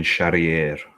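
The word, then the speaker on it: Charrière: uh uh Charer Chareri I would say I've butchered that it's Morgan Sharier Sharier yeah that sounds about right because it's French VTO Petri Ino against Austin Lane.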